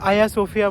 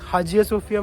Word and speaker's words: Hagia Sophia: और अब हम जा रहे हैं आया सोफिया मॉस्क, हाजिया सोफिया मॉस्क, हाया सोफिया मॉस्क। ये कई सारे प्रोनाउंसिएशन है।